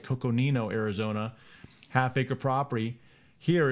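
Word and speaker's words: Coconino: uh coco nino i gotta say it right coco nino arizona half acre property here is thirty two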